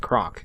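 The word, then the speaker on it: Krock: she says, "Hey," or I'm just going to pronounce it croc because I believe that's how her name is pronounced. It's like k r o c k.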